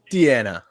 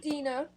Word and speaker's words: Deanna: you second of all my name's pronounced dina dina you should have corrected me years ago it's okay it's